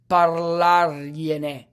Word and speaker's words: parlargliene: This should read parlargliene. Parlargliene. Okay? And the last one, lasciagliela. It's pronounced lasciagliela.